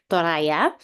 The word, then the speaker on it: Toraja: So me, myself, my mother language is Toraya, but called it Toraja. So basically, it's pronounced differently from where I am from.